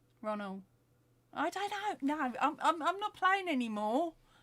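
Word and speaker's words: Roald: Okay, so Kathy's saying she's always pronounced it like rolled, not road.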